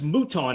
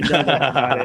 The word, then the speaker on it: Mouton: I would say it rhymes with futon and crouton, and then I would come on TV to say, "Doug Mouton is like" and I'd say, "Doug Mouton."